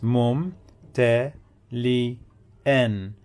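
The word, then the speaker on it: ممتلئًا: Let's check the syllables. Mu, mu, mu, mum, te, li, an. Hamza with tanween bil fath, two fathas, and the alif. So we pronounce it like this. Mum ta li an, mumtali'an, mumtali'an, mumtali'an, mumtali'an.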